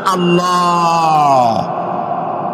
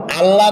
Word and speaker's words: আল্লাহ: আল্লাহর নাম আল্লাহ, বলেন তো। আল্লাহ নয়, কিন্তু আল্লাহ হচ্ছে অশুদ্ধ, শুদ্ধ হচ্ছে আল্লাহ। বলার সময় মুখটা গোল হয়ে যাবে।